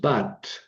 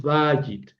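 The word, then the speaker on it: בית: Ojo, no es bat, es bajit.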